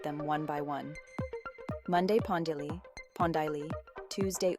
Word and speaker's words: pondělí: Pondělí, pondělí. Imagine pon rhyming with ton and die like the color. The li at the end is soft and quick.